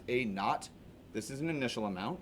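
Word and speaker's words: A₀: Instead of P, I just wrote A sub 0, which this is pronounced A naught.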